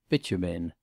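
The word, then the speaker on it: Beauchemin: eldest had married Lord bitumen mr. freer had called quite the right pronunciation of this name successfully sounded as bitumen lady Lucretia had done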